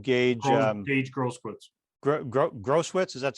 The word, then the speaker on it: Grosskreutz: Grosskreutz, is that how it's pronounced?